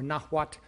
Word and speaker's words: Nahuatl: the Aztecs were one amongst many Nahua, or Nahuat, N-A-H-U-A-T-L, Nahuat-speaking peoples in the central high plateau of Mexico.